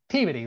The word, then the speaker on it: Peabody: It's history, the right pronunciation. Peabody, right?